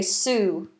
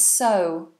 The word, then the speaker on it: sew: things you sew them many people mispronounce this word and say Sue but it's so so so so all